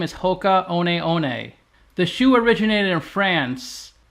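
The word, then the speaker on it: Hoka One One: a lot from 629 million the way you pronounce the full name is Hoka oneei the shoe originated in France but now it's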